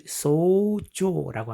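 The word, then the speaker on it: 創造: 創世記 창세기를 소세기 이렇게 길게 소세기라고 발음을 합니다. 창세기는 소세기 天地の創造 천지를 텐치라고 하고 창조를 소조라고 합니다.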